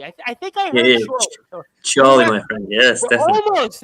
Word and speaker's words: Chorley: I think it's Chorley. I think I heard Chorley. Chorley, my friend.